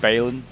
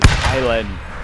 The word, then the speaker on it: Bailén: I was calling it Bailen or something like that. It's just like we'll see the anglicized. It's got like the accent of Bailén. Battle of Bailén.